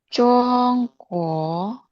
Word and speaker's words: 中国: 中国，中国对，非常好，谢谢安娜。下一个爱媛，韩国， naik dodonya 韩国，韩国，对，lagi 韩国，